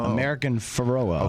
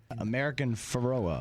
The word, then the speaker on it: American Pharoah: drop the famous drop of chris brockman uh pronouncing the the name of american pharaoh do you have that uh american pharoah okay so we're just sparing you chris brockman's vast knowledge of horse racing american ferrara it does the o and the a were